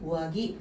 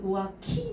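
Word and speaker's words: うわぎ: 우아기 하게 되면은요. 근데 발음 잘못해서 우아키 하면 이제 바람이 되죠.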